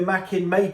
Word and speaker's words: Makin: It's pronounced Makin, by the way. A lot of comments were like, oh, you've got to pronounce it like that. So there we go. Makin. I'm sorry if I do pronounce it Makin.